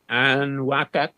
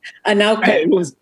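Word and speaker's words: Anaukaq: Henson's woman, known as Akatingwa, if I'm pronouncing that correctly, fathered his only child, a son named Anwakak. Somebody's going to correct me. Anauka.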